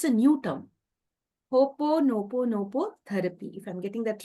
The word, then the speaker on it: Ho'oponopono: Yes, of course, Andrea, because I have seen that in India, still Ponopono is very new, and it is pronounced as Hooponopono. Hooponopono.